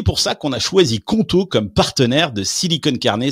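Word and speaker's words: Qonto: Choisissez conto, ça s'écrit Q O N T O pour vous lancer.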